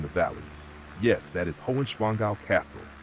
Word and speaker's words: Hohenschwangau: Yes, that is Hohenschwangau Castle. Pronunciation slow and clear. Break it down gently. Hoch, like go, but with an H in front. And soft, quick. Schwan, blend of schieß Schwan. Gau, like cow, but with a G.